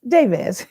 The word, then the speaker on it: Jabez: So that's how I met Miss Jabaz. Did I say it right or Jabaz? Jabez. Okay. Jabaz. Like Jabez prayer.